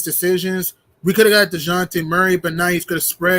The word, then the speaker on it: Dejounte: His name's DeJounte. Thank you. I would have taken Delonte Murray too. I mean, I'm like DeJounte. That's his name. You said Delonte. DeJounte.